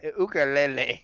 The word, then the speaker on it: ukulele: Do you pronounce it like that? Ukulele. What? That's how you're supposed to pronounce it. I talked to a guy from Hawaii.